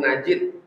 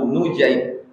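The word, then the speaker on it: نجيد: Cara membacanya nunnya dibaca dhammah, nu. Jadi membaca nama itu jangan nampak Abu Najid, enggak, Abu Nujaib. Wa fathil jim, jimnya dibaca fathah, Nujaib.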